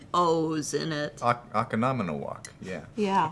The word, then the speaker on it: Oconomowoc: one of my favorite Wisconsin towns is Oconomowoc, Oh yeah, which I has love showing 5 O's in it. Oconomowoc. Yeah. Yeah, Oconomowoc.